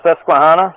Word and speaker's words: Susquehanna: He comes alive in those how do you pronounce it again? The Susquehanna, yeah.